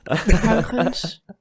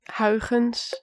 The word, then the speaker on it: Huygens: Huygens. Como? Again? Huygens. Pronto. Huygens.